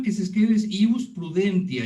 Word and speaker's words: prudentia: voz natural, es ius prudentia. La forma que se escribe es ius prudentia. Ya ven que la letra T en latín se escribe, se pronuncia como C.